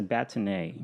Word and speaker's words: bâtonnet: That is a bâtonnet.